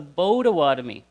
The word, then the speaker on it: Potawatomi: So we already heard one nation from this little guy over here, which was the Potawatomi. But you know what? It's actually pronounced the Bodawatomi.